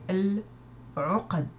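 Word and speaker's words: العقد: On dit al-uqad. Al-uqad se prononce parce qu'il n'y a pas de shadda sur la lettre qui suit.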